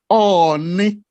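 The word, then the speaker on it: Ooni: The title is pronounced Oni. Oni, but he pronounced it Oni of Ife. Oni Yoruba language means crocodile. That means he has called him Crocodile of Ile-Ife.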